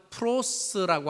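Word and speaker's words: πρός: 발음하면 프로스라고 하는 전치사. 이 프로스라고 하는 전치사는 뭐냐면 함께라는 뜻입니다.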